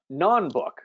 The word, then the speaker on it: non-book: users so non-book uh non-book I noticed we put the stress on the first syllable non-book it's both a noun